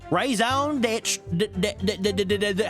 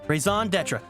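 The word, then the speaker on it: raison d'être: That's our raison d'etre. How do you pronounce that? In first standard American English, and then into. Hold on. Raison d'etre.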